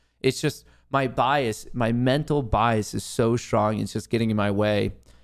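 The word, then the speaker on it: bajs: Strangely, sounds exactly like the Swedish word bias, which means poop. I'm very mature and giggle inside when you say strong bias, my mental bias. Bias. Well, hey, now we all learned a little bit of the Swedish language. We all now know how to say poop in Swedish, bias. But it's pronounced B-A-J-S.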